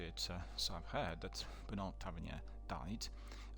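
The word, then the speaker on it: Bertrand Tavernier: And coming back to it, so I've heard that Bernard Tavernier died. Bernard Tavernier, I think that's the way the French would pronounce it, and I immediately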